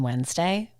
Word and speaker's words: Wednesday: Do you know that there's an N in Wednesday? Yeah, it's like February in the R. You don't really hear it, but you could pronounce it if you want it because it's not silent.